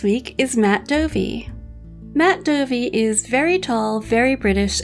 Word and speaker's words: Dovey: Matt Dovey is very tall, very British, and probably drinking a cup of tea right now. Although his surname rhymes with dopey, any other similarities to the dwarf are sheer coincidence.